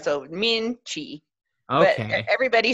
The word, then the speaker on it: Minchey: So how do we pronounce your last name exactly? Minchey, Min? Minchy. So Minchey.